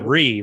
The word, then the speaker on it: Cherie: It's And you're like- Cherie, right?